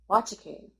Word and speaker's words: Nwachukwu: And his last name is pronounced Wachaku. I call your bluff. Because like half of the letters would have to be silent because it's spelled Nwachukwu, and you pronounce it like kazoo.